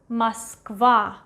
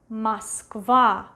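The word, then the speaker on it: Москва: And the last one, the capital of Russia, Moskva, Moskva, Moskva. Last A is stressed, that's why this O is pronounced as A, Moskva.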